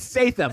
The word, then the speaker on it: Statham: I get it. It's Statham.